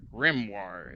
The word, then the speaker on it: grimoire: Grimoire is how you say that.